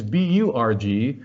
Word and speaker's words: Burg: So you'll see that Würzburg is B-U-R-G, whereas Marienberg is B-E-R-G. In English, we tend to pronounce those the same, but in German, they are completely different words. A Burg, B-U-R-G, means a defensive medieval castle, whereas a Berg, B-E-R-G, means a mountain.